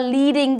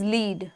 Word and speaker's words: lead: ऊपर वाला is led, नीचे वाला is lead, ठीक है।